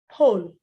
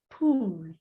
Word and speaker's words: pull: So we have sugar, sugar, sugar, sugar, pot, pot, full, full, pull, pull, pull, pull, not pool. When you say pool, you want to go swimming.